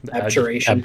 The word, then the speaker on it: Abjuration: Abjuration.